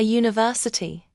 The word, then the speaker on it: university: A university. Wait, doesn't university start with a U, which is a vowel? Yes, but listen to the sound. University. It starts with a Y sound, which is a consonant sound.